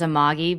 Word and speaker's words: Amagi: And Colleen's at is Colleen, is that Amaji on X? Is that how you pronounce that? Uh, yeah. I I say it as Amagi, but it's a Sumerian word for freedom.